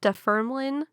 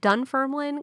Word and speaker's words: Dunfermline: her final year at defermen i'm sorry dunfermline college of physical education